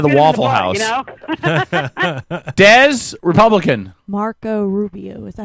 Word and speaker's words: Marco Rubio: is president of the Waffle House Dez Republican Marco Rubio is that how you say his name yes